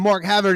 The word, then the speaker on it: Mark Havard: said it right this time uh we got Mark Havard in the uh in the studio here from